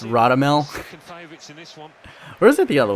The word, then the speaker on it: Radamel: uh my apologies i keep on calling ramadan but apparently it's radamel where is it the